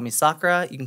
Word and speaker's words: Sakura: you can call me Sakura you can call me you could say anything people called me Shakira cuz they can't pronounce Sakura oh that's fine sh